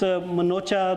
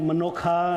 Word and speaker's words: Manocha: And of course, Manocha, last name, they call it Manokha, and different pronunciation, but that's okay.